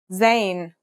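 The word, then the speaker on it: زاي: In terms of pronunciation, you say it just like the English Z as in zebra or el jazer.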